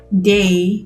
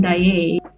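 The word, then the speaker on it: Daaé: I pronounced Christine Day, but it's Christine Daye.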